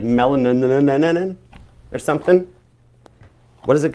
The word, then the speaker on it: mullein: It's like melanin or something. What does it got in it? The key search thing on this thing was like that mullein, M-U-L-L-E-I-N leaf, mullein.